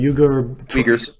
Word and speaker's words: Uyghurs: How do you pronounce it? Uyghurs.